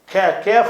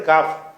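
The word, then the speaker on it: قاف: இந்த காஃப் காஃப்ங்கிற எழுத்து அது கான்னு சொல்லணும் கான்னு சொல்லணும் இது கான்னு சொல்லணும் இது தமிழ்ல உள்ள கானா அவ்வளவுதான் கேப் எல்லாம் சொல்லுவாங்க சில பேர் கேங்குற உச்சரிப்பே கிடையாது அரபில என்ன இது ஏற்கனவே சொல்லிட்டோம் கேனா மேனாவே கிடையாது கேப் எல்லாம் என்ன செய்வாங்க இது ஒரு கிராஸா படிப்பாங்க கேப் என்ற எழுத்து கிடையாது காஃப் அதுவும் காஃப் தான்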